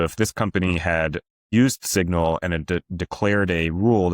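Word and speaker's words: Cygnal: We have a guardrail system called Signal. It's spelled CYG, like a baby swan signal, right?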